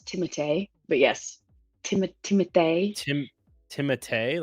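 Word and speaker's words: Timothée: In reality, it's Timote. But yes, Tim tim timite like Tim. Yeah, it's it's like the French fench. It's the French pronunciation.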